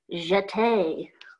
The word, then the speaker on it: jeté: So it's spelled J-E-T-E. Jeté.